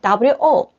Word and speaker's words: 我: Yes, Chinese character is very difficult, but the pronunciation is WO. This is pronunciation of Chinese is easy. 我, u, o. This is u. This is o.